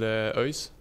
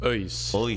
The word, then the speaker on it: ÖIS: No, but I support a team called ÖIS. Okay. One more time, because nobody got that. ÖIS. How do you spell that? Örgryte. It's like UHS.